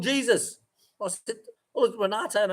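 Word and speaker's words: Jesús: Yeah, but we don't say it as Jesus. We say it as the Spanish way, Jesus.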